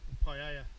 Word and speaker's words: paella: and rice po man's Pella paa if you want to pronounce it correctly ready okay the fire's